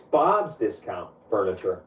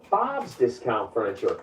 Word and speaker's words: Bob's Discount Furniture: It's Bob's Discount Furniture. That's what I said. Bob's Discount Furniture. You're putting the emphasis on the wrong syllable. It's Bob's Discount Furniture, as in get Bob's discount on furniture.